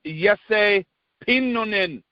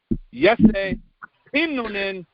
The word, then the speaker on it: Jesse Pinnonen: I went to great lengths today to figure out the proper pronunciation of our guest's name. It is indeed something that resembles Jesse Pinnonen. Any other pronunciation that you've heard from North Americans is actually a straight-up butcher job. So no more Jesse, no more Pinnonen up in this piece. Jesse Pinnonen is where it's at.